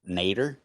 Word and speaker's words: Nader: It's pronounced Nader. Oh, sorry. My name's Mr. Nader.